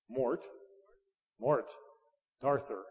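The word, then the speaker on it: Morte d'Arthur: I just can't pronounce this stuff. M-O-R-T-E, Mort, D'Arthur, D'Arthur.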